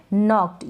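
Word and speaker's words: knocked: Next है नॉक्ड, यहाँ पर ये जो के है ये साइलेंट रहेगा, नहीं पढ़ा जाएगा।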